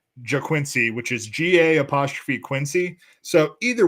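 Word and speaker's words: Ga'Quincy: No, it's I'm pretty sure it's pronounced JaQuincy, which is G-A'' So either way, he's an all-name team candidate.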